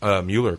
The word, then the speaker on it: Mueller: And we're super excited to have John, it's pronounced Mueller, correct? That's correct, yes.